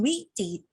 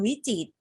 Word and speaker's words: วิจิตร: เสียง คำ ว่า วิจิตร เรา ไม่ เอา เสียง อะไร ใน คำ ว่า วิจิตร เอ่ย ตัว ร ใช่ ไหม คะ เรา ออก เสียง เพียง